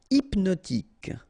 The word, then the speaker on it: hypnotique: Hypnotique, remember, at the end, Q-E, K, tic. So H is not pronounced.